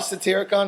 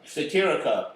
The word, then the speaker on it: Satyricon: I just wanted to hear Frankie pronounce Satyricon. Satirica. Oh, That's like a transformer. that was close. That was close. She Is said, that a transformer like Satirica? It's Won't release a new album. Satyricon.